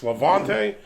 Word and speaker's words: Levante: their beers and I wasn't sure if it's was pronounced lavant or lante somebody commented in one of the other videos and says it's Lavante so my apologies if